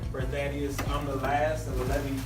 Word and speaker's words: BerThaddaeus: My name is BerThaddaeus. That's how you pronounce my name. BerThaddaeus.